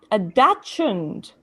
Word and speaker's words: dachshund: A Dachshund.